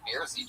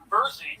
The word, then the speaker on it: Bersey: the fucking Beersy triplets. Tell us something interesting about you guys. Our name is pronounced Bersey triplets, like Jersey.